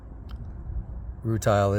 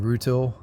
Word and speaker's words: rutile: this is a broken piece of root tile rutile is the correct pronunciation as far as I know I've been used to saying Ruto specifically because if you have rutile needles and